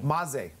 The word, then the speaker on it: Maze: Maze. Most people will say maize. Your logo shows a maize, but yep. It is not pronounced maize.